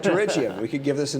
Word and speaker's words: pterygium: I love this word, pterygium. Where else do you get a silent P in the English name?